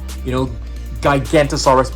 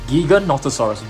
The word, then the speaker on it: Giganotosaurus: So I think many of you guys actually pronounce this as Giganotosaurus or Gigantosaurus, but it's actually pronounced as Giganotosaurus.